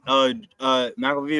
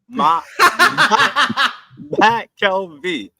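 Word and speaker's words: McKelvey: I got it at the city, McAlvey about we're tanking for fucking. You still saying my name wrong. Matt Kelvey.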